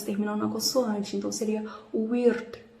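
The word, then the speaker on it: Wyrd: Weird, porque eles puxam esse R, então acredito que a pronúncia correta seria Weird. E o D não tem o I no final. O brasileiro ele tem mania de colocar o D, colocar sempre uma vogal no final, mas eles não, eles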